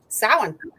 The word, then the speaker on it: Samhain: How do you say it, Clarissa? Yeah. Samhain. Yeah, you do it the right way.